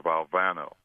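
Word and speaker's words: Valvano: I want to make sure is your name pronounced valano or valano and so of course uh coach we responded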